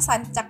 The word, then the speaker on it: sancak: kemudian sancak itu kan sancak ya jadi bahasa Turki itu C Itu bahacanya J jadin itu bahacanya sanjak